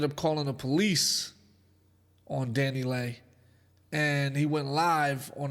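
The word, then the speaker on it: DaniLeigh: with his baby mama danny lay i think that's how you say her name danny lay danny lee i think it's danny lay now the baby got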